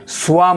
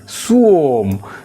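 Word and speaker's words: swarm: এটাকে আমরা অনেকে সোয়াম উচ্চারণ করি, এটা উচ্চারণ হবে সুওম।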